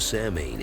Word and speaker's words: Samhain: The History of Halloween The ancient Celtic celebration of Samhain is where Halloween got its start (pronounced sow-in).